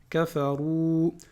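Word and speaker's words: كفروا: Kafaru. Alors ici, ce que vous voyez en gris là, le alif avec un 0, ça ne va pas se prononcer.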